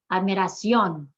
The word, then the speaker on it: admiración: Normally, when a word ends in an N, we'd emphasize the second to last syllable, but in this case, we want to emphasize the last syllable, which is an exception to the rule. So we're writing it in with an accent mark.